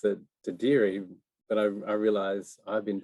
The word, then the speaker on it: dadirri: And Dadiri, I mean, a lot of people pronounce it dadirri, but I realize I've been pronouncing it the wrong way. Dadiri. Dadirri. Dadiri. Yeah, Dadiri. You can roll the R's at the end.